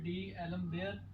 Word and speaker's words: d'Alembert: ये पढ़ना, प्रोनाउंसिएशन इसकी है डी एलम बेयर टेस्ट, या दूसरा इसका नाम है रेशो टेस्ट।